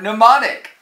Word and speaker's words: mnemonic: have to edit that out M is for mnemonic I should have read the book first don't you think but now mr.